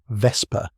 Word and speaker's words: Vesper: Gay's real name, Anthony Vesper, pronunciation Vesper, like whisper.